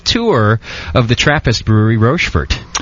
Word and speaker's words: Rochefort: of the trais brewery rord correct make sure I'm saying it right Paxton it is rord okay good cuz I've said it wrong in the past people have